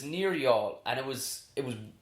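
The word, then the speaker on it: Youghal: cork and Waterford and it was near y'all pronounced y'all are spelled yoga yeah but it's near y'all and it was it was to save one-horse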